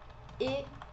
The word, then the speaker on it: et: E você, a gente responde, né, para retornar, et toi. Esse E do francês, importante, a gente sempre vai escrever com um T e a gente nunca vai pronunciar esse T. Então, a pronúncia aqui é E.